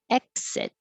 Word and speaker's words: exit: can get it exit so anytime you see the letter x it's really a k and an s but you don't have to release the k noise exit hold it in the k position exit exit and you